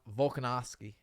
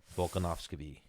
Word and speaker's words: Volkanovski: How do you pronounce his name? The it. Russian dude. Volkanovski. Volkanov. Your boy Hickman's boy. Yes. Volkanovski.